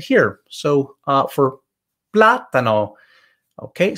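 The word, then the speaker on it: plátano: here so uh for platano okay so the second to last vowel is a so it's not platano or platano on the last one it's we're telling you move it to the front and that's why it's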